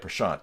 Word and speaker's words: Prashant: Is it Prashant? What's a word that rhymes with it that I would know? Like chant, or I'm not.